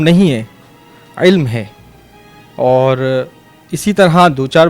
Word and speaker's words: علم: قاف کا بھی مسئلہ آ رہا تھا۔ فلسفہ علم نہیں ہے، علم ہے۔ اور اسی طرح 2-4 بچوں نے یہی